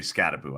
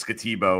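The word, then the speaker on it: Skattebo: And by the way, it's definitely Scataboo. I asked him specific. It's been that. Yeah, I know. But I It's still It's spelled Scatabo. Uh you could go as Scatbo or he said that technically is when they came to America his family that's that's what it was some some version of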